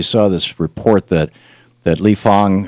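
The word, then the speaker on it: Lee Fang: this report that that lee fong uh spelled like fang but he pronounced the font uh wrote for the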